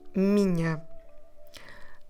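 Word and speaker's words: minha: the word Mina uh this might sound very nasal and it is we have a consonant nasal sound and on may we have a nasal deep tongue a and then both words Mina and mind they start with the nasal consonant mu so it's very nasal and it sounds like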